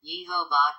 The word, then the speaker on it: Jehovah: thy God in vain the name with them sounds as if written yehovah cared and is only